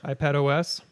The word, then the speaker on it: iPadOS: iPad OS. Yes. iPados, I think is how you pronounce That's correct.